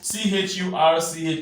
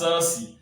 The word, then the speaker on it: church: Many of us, especially those who are from our brothers from the other region, now they pronounce C-H-U-R-C-H as Cersei or Sus. No, this is pronounced as church, not Cersei.